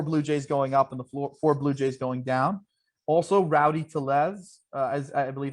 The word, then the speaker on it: Rowdy Tellez: Also, Rowdy Tellez, as I believe how you say his name.